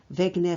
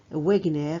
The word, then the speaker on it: Wegener: Donc voici la photo de monsieur Alfred Wegener ou bien Wegener. Wegener, c'est la prononciation d'anglais britannique. Wegener, prononciation d'anglais américaine.